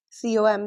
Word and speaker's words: comb: So when you see MB at the end of a word to not pronounce B right let's see examples as T h U M B thumb C O M B com D E B T debt not